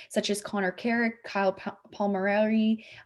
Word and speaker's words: Palmieri: as Connor Carrick, Kyle Palmieri, I think that's how you pronounce his last name. Palmieri, yeah.